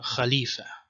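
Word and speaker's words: خليفة: is ha ha ha like a uvular voice is fricative like this word uh Khalifa okay and this doesn't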